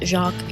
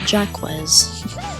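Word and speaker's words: Jacques: And if you don't pronounce it Jacqu, you're wrong.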